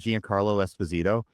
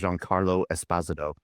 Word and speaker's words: Giancarlo Esposito: Everybody pronounces it Giancarlo Esposito, but I listened to him on an interview and he says everybody pronounces my name wrong, and then he says the actual way to pronounce my name is Giancarlo Esposito, and ever since then